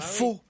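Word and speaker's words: phở: La soupe faux. C'est bon. Comme au Vietnam. Ah, la soupe peu.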